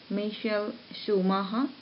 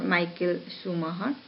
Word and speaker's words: Michael Schumacher: So you can be confused with the pronunciation, though it is a German proper name, proper noun. It will be pronounced in this way: Michael Schumacher or Michael Schumacher.